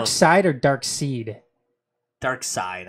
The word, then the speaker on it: Darkseid: Dark Side, I believe is how you're supposed to pronounce it.